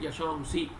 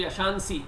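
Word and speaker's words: यशांसि: So you will get yasham si. Therefore you will not pronounce nakara. They are not equivalent. Nakara becoming anuswara has completely changed the pronunciation of nakara. You will not have nakara pronunciation. You will not say yashansi. Yashansi is wrong.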